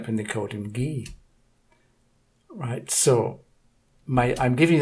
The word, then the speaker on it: Guy: Guy Ritchie GUI and the French pronunciation of the name guy is gay right so there's a